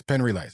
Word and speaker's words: Penn Relays: Penn Relays.